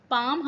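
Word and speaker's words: palm: पैम खजूर का दर यहां पे एल जो है साइलेंट है इसलिए इसको कम पड़ेंगे राइट नेक्स्ट वर्ड ए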